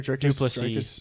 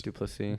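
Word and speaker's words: du Plessis: And then Drick, how do you pronounce his name? Duplessis. Duplessis.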